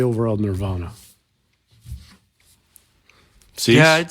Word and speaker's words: Nirvana: or whatever on Stern, he would pronounce it Nirvana. So I say Nirvana now.